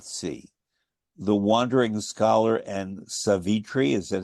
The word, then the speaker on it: Savitri: the wandering scholar and savitri is that how it's pronounced it's actually just like in just like it's yua not yua it's savit Tre stress the stress is on the first syllable yes so what are